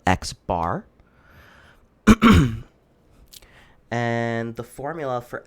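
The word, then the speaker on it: x̄: it's a sample mean um this is denoted x bar that's how this is pronounced it's x with a line over it it's called x bar and the formula for x bar is x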